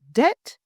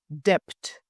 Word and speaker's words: debt: The word debt, pronounced as debt, not debt, so we don't hear the B.